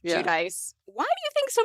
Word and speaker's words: Giudice: Giudice. Giudice.